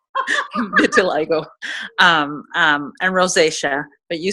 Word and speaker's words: vitiligo: sister has vitiligo and that is how you say it till I go and rosacea but you